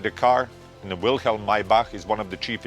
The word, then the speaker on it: Maybach: First I want to mention the name Maybach pronounced in German.